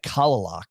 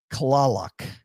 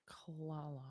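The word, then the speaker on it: Kalaloch: to us it's pronounced kalal kalal so it's like CL instead of Cal it's like CL clock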